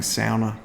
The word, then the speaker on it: sauna: I'm going to say sauna, but that's because well, we're in Australia and that's the way we pronounce stuff. But I can respect that there's more than one way to pronounce the word. If I were in Northern Europe, I would of course be saying sounder so that people knew what I was talking about.